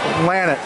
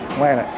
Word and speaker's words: Lannet: Lannet. Lannet. Like, Lannet in the back of the net. All right, we're gonna get it. Lannet.